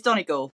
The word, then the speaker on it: Donegal: And she realised that she was pronouncing Donegal, Donegal, I think, anyway, she got it wrong. And she was trying, and I think she still basically got it wrong. So it's Donegal, for those who don't know.